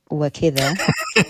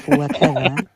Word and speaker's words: وكذا: It's not wakida, it's wakada. It means, and this is what Saeed says. He gets a simple word like kada wrong.